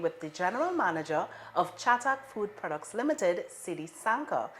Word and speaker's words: Chatak: so it's chatak so just how you say it chatak yeah yeah it feels